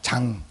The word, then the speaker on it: 장: 그런데 태국 사람들은 장 발음이 안 돼요. 장. 우리는 장씨 있잖아요. 그죠? 근데 장 발음을 못 해요. 장 발음을 하려면 둘 중에 하나 해야 돼요. 장이라고 하든지 짱이라고 하든지 그래야 되는 거예요.